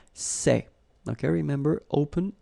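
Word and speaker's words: ces: plural form so masculine plural it would be say okay and then feminine plural good news it's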